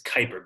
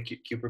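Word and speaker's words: Kuiper: the CER belt nice I think the the pronunciation is Kyper belt Kyper belt yeah I mean I I think some people might say it that way cuer belt but yeah I've heard it Kyper belt and the next thing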